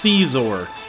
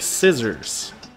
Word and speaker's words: Scizor: next battle here you chats telling me that it's pronounced seas or I thought it was more like scissors Oh scissor work as you know his hands are like scissors pronounces seeds or from here on if